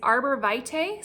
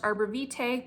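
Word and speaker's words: Arborvitae: for the funk is Arbor Vite sometimes you'll hear it pronounced arborite both are proper so arborite or arborite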